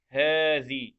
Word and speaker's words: هذه: ثم كلمة بها حرف ينطق ولا يكتب، اللي هي كلمة إيه؟ هذه.